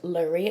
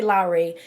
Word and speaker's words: Lorri: so my name is lorri pronounced lorri a lot of people say Larry it's not Larry okay my name is